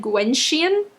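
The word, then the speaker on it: Gwenllian: and I don't know I looked at the Welsh pronunciation of the name and it said Gwen Chien so that's kind of how I kept pronouncing it in the book so that's what I'm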